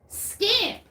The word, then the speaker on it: Scamp: Scamp. There we go. I'm like, it's not vamp, but it rhymes with vamp. It's scamp.